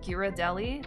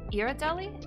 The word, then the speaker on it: Ghirardelli: big mega pack of ghirardelli maybe like a sampler am i saying that wrong irideli is it irritating no there's no way the g is silent hell no i'm back